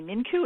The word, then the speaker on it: Mincu: well my name is minku it's spelled Min ncu with a hard C I was a corporate